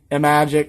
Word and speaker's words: Imagic: Some people pronounce it Imagic. Some people pronounce it iMagic. I'm just going to say Imagic because it sounds better to me.